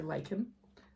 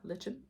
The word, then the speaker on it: Lichen: Next up is the color Lichen, or as I like to pronounce it at first, Lichen, because that's how it's spelled.